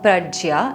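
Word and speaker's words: प्रज्ञा: And finally, the next word is pragya or prajya, as some people pronounce it.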